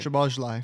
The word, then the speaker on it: Szoboszlai: But Szoboszlai Szobo- Szoboszlai, however the you pronounce his name. Szoboszlai.